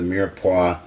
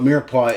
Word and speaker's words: mirepoix: So in French cooking they have, you've probably heard of it, the mirepoix. It's spelled Myers-Poix, which is tricky, Myers-Poix. But anyway, they don't know how to say anything right. But what mirepoix is the base for lots of soups and stews.